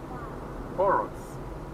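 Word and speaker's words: Porus: Poros. Bienvenidos a Poros. Ok, muy bien. Bienvenidos a Poros. Poros. Se escribe P-O-R-U-S.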